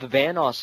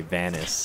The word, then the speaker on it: Vanoss: god we're playing with vanoss again i remember you from the other night because you called me vanus now you say my name right yeah i called you